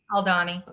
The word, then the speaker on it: Aldhani: even know if I can know how to pronounce this is it is it aldani oh Donnie is that how you say it oh Donnie okay thank you I'm like I feel that